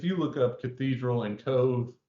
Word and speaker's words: Cobh: But if you look up cathedral and Cove, Cove is spelled Cobh, you'll see it in.